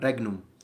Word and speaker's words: regnum: know how in italian a gn put together is pronounced as like the spanish n with a little thing on top that i can't remember